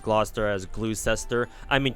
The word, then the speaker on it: Gloucester: knock naria got it they used to pronounce gloucester's glue cester yeah Gloucester and then uh yeah plenty